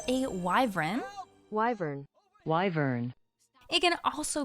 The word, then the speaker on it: wyvern: Most commonly called a Wyvern. Wyvern. Wyvern. It can also be pronounced as Wiv-ern, which is what we have in our Guild Wars universe, as seen here.